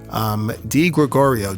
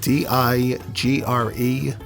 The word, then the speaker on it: DiGregorio: And your last name is spelled? DiGregorio, DiGregorio.